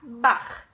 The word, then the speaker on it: Bach: you know the composer Johann Sebastian Bach so now you know how to pronounce his last name maybe you you knew before but anyway now you know that there's a rule behind the cut sound in buck okay so deer buck